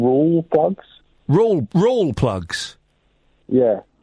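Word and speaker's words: Rawlplug: But the reason why I've called back up is you keep saying roll plugs. Roll plugs? Yeah. The L, I'm pretty sure the L is silent. I'm pretty sure it's just raw plugs.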